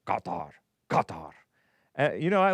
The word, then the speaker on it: Qatar: It's from the back of your throat. Qatar.